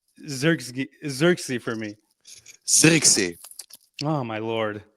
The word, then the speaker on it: Zirkzee: Pronounce Xerxes for me. Zirkzee. Oh my lord! Say it again. Zirkzee.